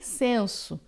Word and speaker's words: sens: Insensé é sem sentido, sem senso, tá? A palavra senso ou sentido em francês, ela vai ter esse S final que a gente pronuncia, é uma exceção.